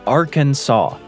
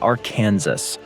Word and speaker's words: Arkansas: It's Arkansas, not our Kansas.